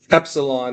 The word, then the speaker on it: epsilon: It says epsilon, on page 1, epsilon is E as in met, But eta is just in the name, eta as in obey or pray.